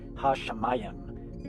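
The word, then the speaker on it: הַשָּׁמַיִם: That lets you know that you have to pronounce it with the sh sound as S-H.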